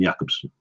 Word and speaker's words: Jakobsen: It is Baron Jakobsen. Bjorn Jakobsen. Spelled Jacobson. Pronounced Jakobsen, I believe.